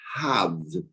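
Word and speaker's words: הב: Talmud, those 2 letters, which can be pronounced hav, you could all say it to yourselves. Let's all say it, hav.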